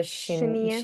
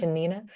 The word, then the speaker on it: Shanina: And am I gonna pronounce this right? The Rosa Rosa Shinia? Shanina.